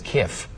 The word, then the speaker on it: kif: This is spelled K-I-F, which I would pronounce as Kiff, also known as the sidekick to Zap Brannigan on Matt Groening's Futurama.